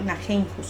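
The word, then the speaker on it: Nijenhuis: Haan y Steele y el otro Naheimhus, se pronuncia así.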